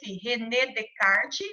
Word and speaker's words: René Descartes: o matemático resident arte pronuncia redecard mais escreve rené descartes ele viveu em 1596